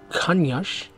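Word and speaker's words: Caniço: we're staying in the town of kanyash is how you pronounce it which is about 20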